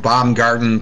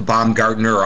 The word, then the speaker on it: Baumgarten: well for obvious reasons they always want to change it for some reason from Bomb Garden to bomb Gartner I don't know why there's no ner at the end but okay